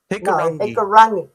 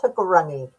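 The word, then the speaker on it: Hikurangi: hikarani hikaragi hikarangi hikarani no you don't pronounce the g it's hikarani Hikarani in that regard.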